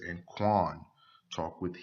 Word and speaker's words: Qayin: Qayin and Hebel is just the Hebrew pronunciations of their name. Cain and Abel is more of the Greek pronunciation. And from Greek, they transliterated it into English.